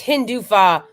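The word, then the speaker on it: Hindutva: Okay, so it's Hindufa is like Zionism versus Hinduism, which is like Judaism.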